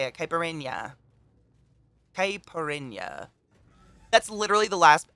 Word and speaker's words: caipirinha: type kyberry rin kaiperon kyperenya how do you pronounce it though caipirinha that is the exact word but for the